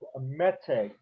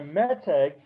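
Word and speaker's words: מתג: Another thing that relates to this that's important is a word called meteg. M-E-T like in Tom, E-G. Okay? And a meteg is an accent mark.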